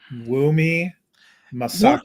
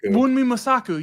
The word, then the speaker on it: Wunmi Mosaku: And then the one I just looked it up because I didn't want to mispronounce it. Wunmi Mosaku. Wunmi Mosaku.